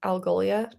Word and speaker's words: Algolia: Mary from, how do you say that? Algolia? Yeah, Did I yeah. make- Is that close at least? That's right. Yeah.